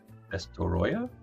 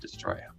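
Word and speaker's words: Destoroyah: And the big ass Destoroya. I always said Destroya. I've been mispronouncing it.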